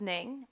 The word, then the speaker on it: Ning: Uh, well, my name is Ning. Um, and if you have problems pronouncing it, say the word lightning, then subtract the word light cuz I live it, so you can call me Ning.